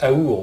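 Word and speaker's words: אור: En plus, ce mot, il se prononce autrement, il se prononce aour aussi, comme amour.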